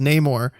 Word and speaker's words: Namor: rabbit hole learning about nemour or as his character name has been traditionally pronounced Namor uh in his backstory